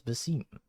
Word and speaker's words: Basim: all right got it wait it's not Bim it's Basim Google says Basim no okay